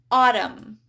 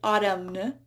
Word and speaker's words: autumn: So we have autumn, hymn. There's a silent M in there. I don't say autumn, hymn.